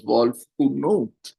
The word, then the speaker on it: Wolfnut: Wolfnut, pronounced as Wolfunut, came into being after a 7-year-old New Zealand boy told his mom about this day he had created.